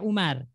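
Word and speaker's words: عمر: amrun wine aomaru ya Jadi kalau ada Wow itu dibaca amrun kalau enggak ada dibaca Umar Aina amrun Naina umaru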